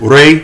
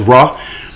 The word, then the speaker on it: Re: And so a lot of it goes back to sun worship, Re, which is sometimes false pronounced as Ra.